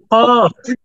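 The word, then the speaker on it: كاف: পরের হরফটা উচ্চারণের সময় আমি বললাম কাফ একটু পাতলা কিন্তু দেখেন এই দুইটাকেই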